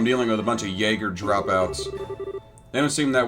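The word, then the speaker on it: Jaeger: so some Third Rate Jaggers for the uninformed of jger is a mercenary and yes that is pronounced Jagger it's the Germanic pronunciation talk about pointlessly fancy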